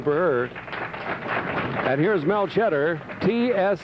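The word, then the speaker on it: Chetter: her and here's Mel cheddar TS c h e t t e r pronounced the same as the cheese cheddar 180 average bowling for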